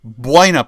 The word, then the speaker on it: Buena: To this day, George can't pronounce it correctly. The the city that I grew up in, George, it's called Buina Park.